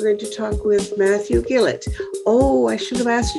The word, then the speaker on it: Gillett: do you pronounce it you did it perfectly Gill it all right very good because when when it's a g I never know whether it's going to be a g or Jill or you know okay